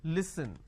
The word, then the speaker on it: listen: Okay, it's pronounced at li, s, n. Listen.